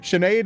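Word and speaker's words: Sinéad: They just kind of ignore the H. It's just everybody knows Sha S E A N is like it has an SH even though the H isn't there.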